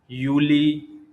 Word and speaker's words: Juli: So there are 3 months: Juni, Juli, and August. Juni means June, Juli means July, August means August. German usually pronounce J as a Y, so they called Juni, Juli, August or August.